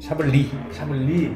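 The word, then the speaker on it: Chablis: 샤블리 뒤에 S는 또 발음이 없어. 샤블리. 나는 와인의 문외 아닌데 와인 모임을 가.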